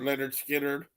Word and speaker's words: Lynyrd Skynyrd: I touched on it Leonard Skinner pronounced Lynyrd Skynyrd um good one that